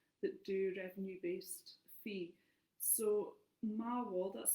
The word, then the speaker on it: Maawol: There's a new platform called Mawall, but it's that is a specific site for actually being able to host your.